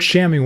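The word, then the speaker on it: chamois: So, I didn't know what shammy was and I didn't know what the word was they were using to define it.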